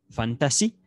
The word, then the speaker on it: fantasy: parece que es francesa fantasy como fan el ph en inglés ph en inglés si quiere se pronuncia como efe fantasy las llamadas fantasías